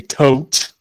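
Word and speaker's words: Thoth: use my thought deck just so I could say tote which is how I actually pronounce it um we have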